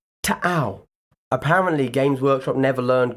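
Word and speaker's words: T'au: However, due to copyright reasons, I shall now pronounce the name correctly once and once only. Are you ready? Tau.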